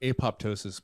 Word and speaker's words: apoptosis: Apoptosis means cell death. That's cool. Yeah. Cool word for that. It's also known as apoptosis if you don't pronounce the other P.